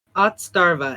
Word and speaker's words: Otzdarva: And how's his name pronounced? Otzdarva, and his YouTube channel is not Otzdarva.